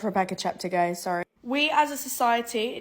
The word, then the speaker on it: Cheptegei: we missing out the key element Al it's pronounced Rebecca chapter guys sorry we as a society need to get